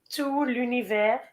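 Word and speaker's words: Tout l'univers: well first of all the title is pronounced tu luniver and i preferred his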